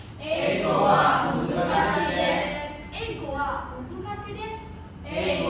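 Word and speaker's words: です: Nggak des? itu menjadi emang sudah dari sananya dibaca des bukan desu.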